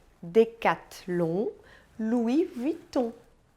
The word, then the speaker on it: Decathlon: sabe então né II outras letrinhas que a gente encontra juntinhos com muita frequência é o e o n como pronunciadas na verdade é super simples elas tensão de um como encham de um decatilum e Louis Vuitton Repita comigo Chandon Decathlon